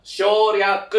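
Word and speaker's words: 省略: Cara bacanya itu adalah shouryaku ya.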